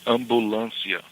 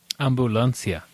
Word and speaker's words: ambulancia: It's similar to the way we spell it, ambulance, but we say it a little bit different, of course. It's ambulancia. Ambulancia.